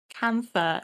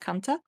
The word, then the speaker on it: Kantha: And it's spelled Kantha. Mostly I've seen it pronounced Kantha in like English sources, but I believe it's actually pronounced Kanta.